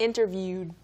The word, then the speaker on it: interviewed: Interviewed. It kind of like a pause in the word, and 네. your tongue goes up. Interviewed. Interviewed. You stop the air.